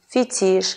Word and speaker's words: фетиш: А слова, пришедшие с французского языка, произносятся с ударением на последний слог. Жалюзи, фетиш, диспансер и другие.